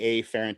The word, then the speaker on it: afferent: pronounce it i just i do the a fahren to emphasize the difference between afferent and efferent which are the motor